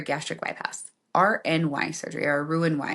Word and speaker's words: Roux-en-Y: RNY surgery, or Roux-en-Y is how they say it.